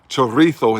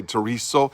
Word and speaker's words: chorizo: got some Spanish chorizo that's a chorizo in Spain it's spelled the same chorizo but in Mexico say tereso in Spanish spell the same and it's a